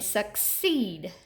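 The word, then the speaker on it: succeed: in the first syllable and suckseed suckseed you hear the long e in the second syllable so that's just a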